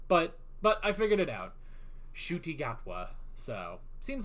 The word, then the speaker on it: Ncuti Gatwa: Ncuti Gatwa.